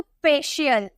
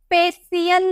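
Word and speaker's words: facial: सोशल सोशल ठीक है एफ ए सी आई ए एल सी के बाद आई ये देखने को मिला तो फेशियल फेसियल नहीं फेशियल ठीक है और कुछ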